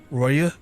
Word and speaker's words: Roaille: Roaille, apparently it's pronounced Roaille, because France.